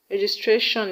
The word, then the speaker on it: registration: For example, ability is stressed in BI, registration is stressed in GIS, and revivalist is stressed in VI.